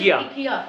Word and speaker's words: IKEA: The right pronunciation of IKEA is IKEA.